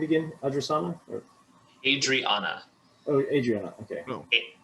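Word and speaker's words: Hadrianna: you say her name again adriasana adriana oh adriana okay h a d r i a n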